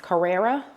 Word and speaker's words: Carrera: So the first pair are I believe the brand is pronounced Carrera.